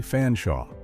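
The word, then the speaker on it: Featherstonehaugh: confused American audiences that it was actually pronounced Chumley Fanshawe, following the peculiar British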